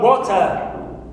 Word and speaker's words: water: In the word water, water, clear? In the word water, here, wo is my stressed syllable. It's the first one.